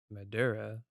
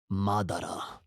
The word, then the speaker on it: Madara: since we're talking about Madura can you pronounce his name properly please no it's Madara Madara that's better I can't believe you're